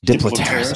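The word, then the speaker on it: Diplopterys: Chagrupanga, which is also, I think it's a Diplopteris cabrerana. Is that how that's pronounced? Mm-hmm. Diplopteris.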